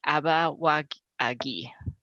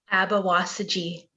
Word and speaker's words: Abawasaji: Her Anishinaabe name is Abawagi. Say it for me if I said it wrong. Abawasaji. Thank you, Wasaji.